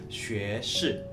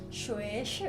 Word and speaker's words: 学士: Nah, guys, jadi S1 itu kalau di Mandarin kita bacanya 学士, ya. 学士 Sekali lagi 学士.